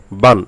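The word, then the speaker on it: بًا: তানবিনে বা 2 জবর বান। এখানে যেন বান এই নুনে গুন্না না হয় সেদিকে খেয়াল রাখবেন। আবার বান এরকম যেন টান না হয়ে যায় সেদিকে খেয়াল রাখবেন। তানবিনের উচ্চারণ তাড়াতাড়ি পড়তে হবে।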